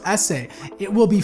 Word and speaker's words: SE: the rumored iPhone 5 SE was announced which is actually pronounced essay it will be 4